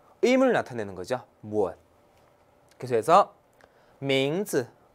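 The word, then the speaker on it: 名字: 그래서 名字. 名字. 보세요. 이성이고 경성이에요. 네, 경성 꼭 주의해야 돼요. 경성 같은 경우는 어때요? 짧고 가볍게 발음하면 되죠. 名字.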